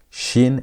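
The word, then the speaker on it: שין: Where you place the dot on top right is shin. The pronunciations are different. This is shin. That is sin. That had s sound. This has sh sound as in the word shout.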